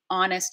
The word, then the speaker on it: honest: of these words that we have from French like honor honest and hour where we don't actually say the H instead of the H